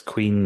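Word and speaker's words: Choíche: It's Queen, that's spelled Choiche. It's an Irish word for forever.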